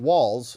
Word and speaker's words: Walz: They brought out Tim Walz, rhymes with balls, and he is not that much different than Tim Kaine.